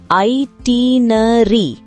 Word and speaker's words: itinerary: இந்த வேர்டை எப்படி ப்ரொனவுன்ஸ் பண்ணணும்னா ஐட்டினரி.